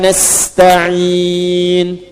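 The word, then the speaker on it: نستعين: Nasta'in dibacanya fathah depannya. Nah, ya. Ujungnya harakatnya u kalau disambung. Iyyaka na'budu wa iyyaka nasta'in ihdinas siratal mustaqim. Kalau berhenti sukunkan.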